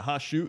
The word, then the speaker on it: Hashut: Yeah, Hashut.